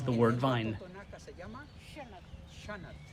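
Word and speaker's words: Xanat: se llama Shanat. And they call it shanat. X-A-N-A-T. Shanat.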